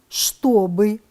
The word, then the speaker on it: чтобы: Пишем «чтобы», произносим «чтобы».